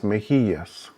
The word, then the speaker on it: mejilla: Now, another probable necessary explanation would be the fact that when you've got two L's together, they make what in English would be the Y sound. That's why you hear mejilla.